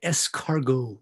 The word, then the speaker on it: escargot: of y'all have tried escargot right again if you're gonna order it you've got a sound intellectual you don't pronounce the t right it's a french term escargo i personally have